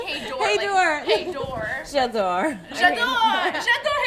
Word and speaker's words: hej då: Hej då. Hej då. Okay, so This is Elsa. And hej då. Hej då. Hej då. I just said hey door. Hej då.